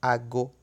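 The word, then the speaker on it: àgò: Ago com licença só tem um A e pronuncia-se diferente. Com licença pronuncia-se ago. E relógio, ou a referência a horas, pronuncia-se ago, com 2 As.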